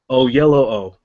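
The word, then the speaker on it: Oyelowo: pronounce his name now so it's David O yellow o o yellow o yeah and it kind of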